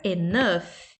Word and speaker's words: enough: Porém, na palavra enough, ele é meio que pronunciado, ele tem um som de um F mudo.